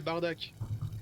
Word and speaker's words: Bardock: Et si on veut le prononcer correctement, c'est Bardak.